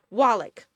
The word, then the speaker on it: Wallach: Wallach. L's. The letter is L, not R.